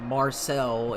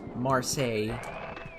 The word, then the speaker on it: Marseille: in Marseille France and yes that's how it's pronounced not Marcel its Marseille in fact I'm pretty certain is a French